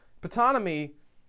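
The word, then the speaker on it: Ptonomy: moment and later on putana me who's you're supposed to pronounce the P and putana me guys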